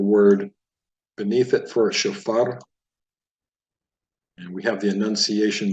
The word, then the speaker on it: shofar: they would pronounce it shofar, but the enunciation is actually on the last syllable, at least with Sephardic pronunciation of Hebrew, which is more the approach we're taking in this program. So it's shofar.